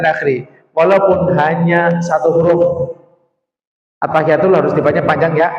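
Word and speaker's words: التحيات: At-tahiyatul harus dibaca panjang ya. At-tahiyatul.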